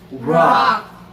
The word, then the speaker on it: rock: rock rock 그냥 우리말로 락 이게 아니고요. 꼭 우락하는 느낌으로 알면 그냥 락 이게 아니고 럭 이런 느낌이에요.